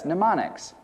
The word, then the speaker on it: mnemonics: learning about deals with a science of pneumonics that's spelled MN m o NS neonics neonics Loosely translated from the Greek culture simply